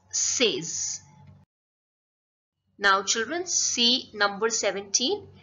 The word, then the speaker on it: seize: It's seize. Now children, see number 17. How is it pronounced in French?